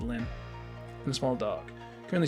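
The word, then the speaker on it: Lynne: I don't know, the E in Lynn makes me want to say line, but I need to keep returning to myself. It's technically it's Line, but like that's the original Japanese pronunciation. But I'm gonna go with Lynn and a small dog.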